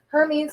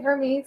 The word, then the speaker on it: Hermes: if you want um so like yeah Hermes we wouldn't say Hermes we'd say Hermes I'm not gonna say